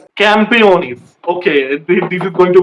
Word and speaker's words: Campeones: What was the pronunciation again? Campeones. Campionis.